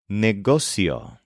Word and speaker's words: negocio: and race as carera our next word is neio which sounds something like negotiation but it's the word for business neio for example yes